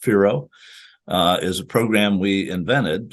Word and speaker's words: FIRO: So our Forecast Informed Reservoir Operations, FIRO, pronounced FIRO, is a program we invented.